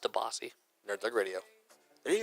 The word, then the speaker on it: DiBiase: It's pronounced DeBossy.